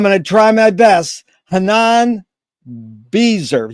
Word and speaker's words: Chanan Beizer: Chanan Beizer. You pronounce it Chanan once so we can hear it right. It's Chanan Beizer. Beizer.